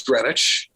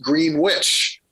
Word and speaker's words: Greenwich: as greenwich england but you don't pronounce this town as greenwich it's pronounced green witch and one hint to